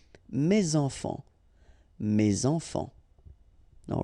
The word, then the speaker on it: mes enfants: Enfant, children is starting with a vowel, so you should make the liaison mes enfants, mes enfants.